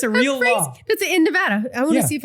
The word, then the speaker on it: Nevada: you know do people do you say Nevada or Nevada you say Nevada huh I say it wrong because it sounds better wait you say Nevada yeah and I say Nevada I don't know Nevada is correct it is oh it's